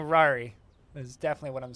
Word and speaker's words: Rory: No, I'm definitely saying Rari. Is definitely what I'm saying. Although I think it's actually pronounced Rory. Like, R-O-R-Y is how it's pronounced.